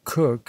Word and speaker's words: Coke: sir edward cook sir edward coke or cook as now pronounced and occasionally so written